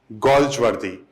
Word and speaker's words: Galsworthy: इसको आप ये लिख सकते हैं, ये ओ की मात्रा है, गोल्ज वर्दी, गोल्ज वर्दी। तो ये जो है इसका उच्चारण जो है जॉन गोल्जवर्दी है।